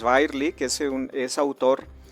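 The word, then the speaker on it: Birley: podría ser Útil es eh virely birly eh yo creo que la pronunciación es virely que es un es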